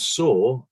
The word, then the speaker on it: Sau: like hong kong and saw is spelled s-a-u but sounds like the way the word saw s-a-w is spelled in english so hong saw and